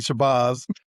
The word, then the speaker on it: Shabazz: Did I pronounce that right, David, or did I butcher that? Or yeah, it's actually Shabazz.